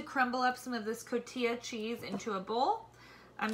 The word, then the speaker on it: cotija: For the longest time, I thought that it was actually pronounced cojita cheese, but it's actually cotija cheese.